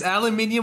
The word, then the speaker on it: aluminium: it's aluminium and not aluminum. Aluminum is fucking stupid and it's dumbed down because Americans. Aluminium is you're adding fucking sounds.